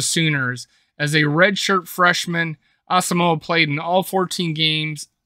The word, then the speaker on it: Asamoah: Asamoah, pronounced Asamoah, family came to the United States from Ghana in 2000 and eventually settled in Columbus, Ohio.